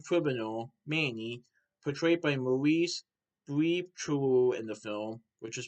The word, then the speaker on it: Bleibtreu: So, this is a visually and conceptually impressive film that is about two-bit villain criminal Manny, portrayed by Maurice Bleibtreu in the film, which is spelled Bleibtreu.